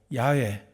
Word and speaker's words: 야훼: 그 일부 교단에서는 여호와라 발음하지 않고 야훼, 스무금 교단에서는 야훼라고 발음하는 것은 야훼라고 발음하는 게 더 가까운 발음일 거라 생각해서 일부러 그렇게 하는 겁니다.